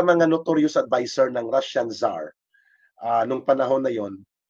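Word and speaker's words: tsar: two spelling no si z a r at saka t s a r t z a r the pronunciation is zar no the first letter is silent ang pronunciation niyan silently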